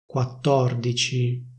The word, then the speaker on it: quattordici: They don't say /quattordici/, they say /quattòrdici/.